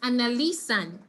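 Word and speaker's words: analysand: stress go right here so this word is pronounced analisa analisa analysan it is analisan okay all right so i want for you to try saying that word analisan analisan so this is where the emphasis is right on this syllable not on the sun it's here analisa so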